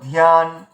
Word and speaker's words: ধ্যান: তাহলে ধ্যান মানে ধয়ের উচ্চারণ অর্ধেক হলো, ইয়ার উচ্চারণ পুরোটা হলো ধ্যান।